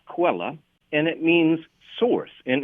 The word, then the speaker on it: Quelle: It's a German word, Quelle, and I think it's maybe pronounced Quella, and it means source.